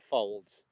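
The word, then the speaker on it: Faulds: he's the one who first noted that we all had fingerprints that were different hey Henry fold yeah it's spelled f-a-u-l-d-s but it's like Folds it's a bit like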